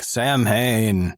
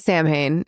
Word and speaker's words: Samhain: Yeah, it's not Sam Hain. It's Samhain. Which, to be fair, it is spelled Sam Hain. It is spelled that way in English, but because it is a Celtic word, yes.